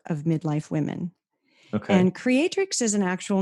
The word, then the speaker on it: Creatrix: Creatrix Rising, and it's spelled Creatrix.